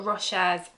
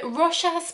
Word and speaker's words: Rochas: through the three mademoiselle Russia's perfumes from of course the company of Russia's Paris and I think it might be pronounced Russia a lot of French words you don't pronounce the last letter and anyway if you're